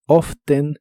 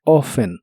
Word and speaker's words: often: tal como está escrita often o sin la letra T ofen ambas formas son correctas y la más común para los americanos es sin la t often often y usarás el